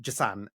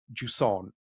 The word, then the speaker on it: Jusant: And yes, it's not Jusant, as I said in my really Yeah. like tame English accent or else. Yes, this is Jusant that we have coming